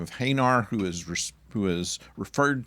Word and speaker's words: Hanar: his attention he says hanar now the only reason that the pronunciation would be any different is because they've read it off a script and William Shatner memorized his lines and saw h-a-n-a-r and decided it was